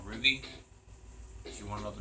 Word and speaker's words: RWBY: the link in the description yeah R WB Ruby not the r u y it's RWBY I know it's pronounced strange but you you'll find out why